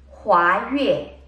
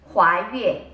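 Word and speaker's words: 华岳: Okay, first two words, 华越. It's spelled as H-U-A-Y-U-E for those who are interested or making notes. 华越.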